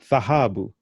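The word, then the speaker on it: dhahabu: And then we have the word gold, thahabu. Can you pronounce that?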